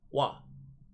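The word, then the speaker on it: は: I stated earlier wha as far as particles go is pronounced wah whatever you do now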